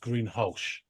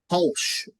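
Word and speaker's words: Greenhalgh: h yeah it's pronounced green hulsh hulsh okay like an sh rather than a j yeah I know someone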